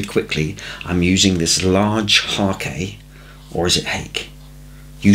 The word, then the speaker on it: hake: i'm using this large hakey or is it egg you say tomato i say tomato no but i'm sure it's originally an oriental brush and pronounce hakee so let it soak